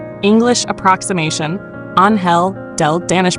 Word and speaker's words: Angel: Anhel del Danish pronunciation.